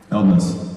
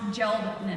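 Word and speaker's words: Hjeldness: Eldness. Hieldness. No, it's pronounced geldness.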